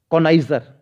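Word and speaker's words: connoisseur: इसकी स्पेलिंग भी ध्यान रख लिए, CHAU, शोविनिस्ट, BINIST, शोविनिस्ट। ठीक है, अगला है कॉनाइजर।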